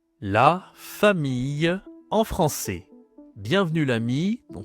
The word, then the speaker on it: famille: Alors, voyons le vocabulaire de la famille en français. Alors, déjà, on commence avec la prononciation.